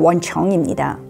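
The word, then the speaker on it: 文城: 표지에 보시면 한자로 문성이라고 적혀 있는데요. 중국어 발음으로 원청입니다.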